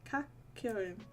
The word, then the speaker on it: Kakyoin: Kakyoin.